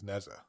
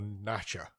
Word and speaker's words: Nezha: And then he says this is Nezha or Nasha, I think they call it. That's how they describe it, how they pronounce it over there.